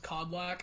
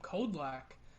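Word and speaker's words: Kodlak: basically well the name is supposed to be pronounced codlak i don't know if you guys ever played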